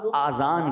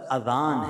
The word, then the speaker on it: اذان: بعض لوگ آذان کہتے ہیں، یاد رہے پہلے اذان کہتے کس طرح ہے، اس کا تلفظ سے بچ لیں. آذان اذن کی جمع ہے، اذن کہتے کان کو، یہ آذان نہیں ہے، یہ لفظ اذان ہے، ٹھیک ہے.